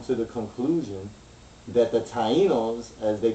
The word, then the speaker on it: Taino: phonetic form meaning like the word Taino it got three syllables you got thi e and no or you can break